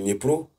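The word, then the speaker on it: Dnipropetrovsk: Voilà, Dniepropetrovsk. C'est pas facile de prononcer, donc moi je vais toujours dire Dniepro. Voilà, certains prononcent Dniepro.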